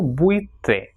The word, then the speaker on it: buitre: will come together, so when the two weak vowels U and I come together, it will be pronounced as ui. For example, buitre. So buitre will be pronounced as buitre. And you pay attention that the syllable is formed when these two vowels come together. So buitre, two syllables over there.